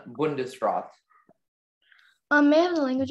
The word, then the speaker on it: Bundesrat: there any alternate pronunciations there's just the one bundesrat um may have the